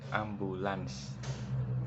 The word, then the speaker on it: ambulans: Seringkali penulisan maupun pelafalannya adalah ambulan, padahal kata ini seharusnya ditulis atau disebut ambulans, karena kata ambulan adalah bentuk tidak baku dari kata ambulan.